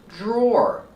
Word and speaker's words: drawer: The dr makes a Jj sound with a voice like juice and jump. J plus the R J and the or like floor and more. Put it together. Draw. Drawer.